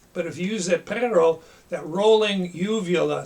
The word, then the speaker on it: perro: don't hear a growl now if you've had any Spanish you know how to pronounce the word for dog perro perro say that a few times perro pero it's rolling the the uvula in the back of your throat it's like like gargling that's how you get